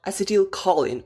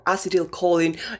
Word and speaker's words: acetylcholine: Today we are talking about acetylcholine, or acetylcholine, different pronunciation.